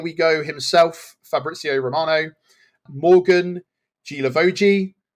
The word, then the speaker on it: Guilavogui: Go himself, Fabrizio Romano, Morgan Guilavogui. It's how it's pronounced, but it's not how it's spelled.